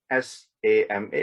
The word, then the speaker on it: sama: which is sama s-a-m-a of course in some places you will say you will see that it's it's spelled as s-h-a-m-a right s-h-a-m-a so they call it shama but i don't want you to mistake that for shama as in forgiveness right so this is sama now sama means having that